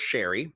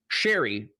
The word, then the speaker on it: Chaeiry: L in public where he hooked up with Sherry? I'll explain my pronunciation momentarily.